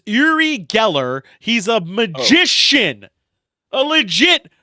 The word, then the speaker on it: Uri Geller: It's Uri Geller.